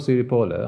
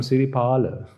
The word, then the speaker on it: Siripala: So if, say, Siripala's name was read, Siripola, Now, excuse me, I'm not Siripola, I'm Siripala.